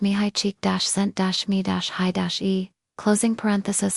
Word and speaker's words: Csikszentmihalyi: The Hungarian psychologist Mihali 6 in Mihali often pronounced mihi cheek-sent-me closing parenthesis called it flow.